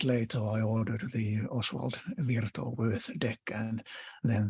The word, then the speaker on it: Wirth: of them, and then Oswald Wirth, or Worth as its surname usually pronounced, the Wirth deck, and then Robert Wang's Jungian Tarot, and I ordered all 3, of course, immediately.